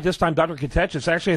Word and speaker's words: Catechis: Catechis.